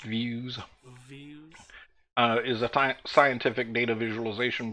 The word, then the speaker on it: Veusz: through every last detail the views product it apparently pronounced views is a scientific data